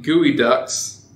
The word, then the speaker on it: geoduck: It's spelled Geoduck, you're right, but it's pronounced Gooey Duck.